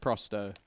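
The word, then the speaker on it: Pro100: mean Pro 100 yes but it's pronounced prosto but it is red as Pro 100 what do you think about smer and big uh love it absolutely love it life after love okay why is it pronounced like that because 100 in Russian is Stow I think I'm going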